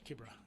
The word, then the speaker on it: Kibera: Um or Kibra, as I was told you have to pronounce it.